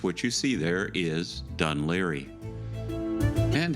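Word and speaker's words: Dún Laoghaire: Yes, what you see there is Dunleary. And how do I know that it's pronounced Dunleary?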